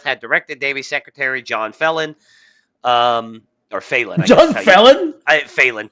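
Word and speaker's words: Phelan: directed Davy Secretary John Felen um or Failen Felen Failen Phen that would be that would that I'm pretty sure the proper pronunciation of that would be Failen.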